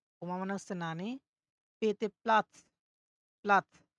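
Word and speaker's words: Platz: পেতে প্লাৎস, প্লাৎস।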